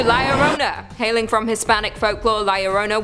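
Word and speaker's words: Llorona: hailing from Hispanic folklore liarona which I'm pronouncing correctly now after you guys yelled at me in a previous video is also known as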